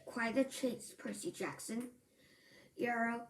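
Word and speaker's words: Euryale: Channel smile River but Euro she said the name so it rhyme with Mario can't I give him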